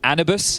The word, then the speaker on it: Anubis: They're playing on Dust2, Inferno, and Anubis, I believe is the official pronunciation.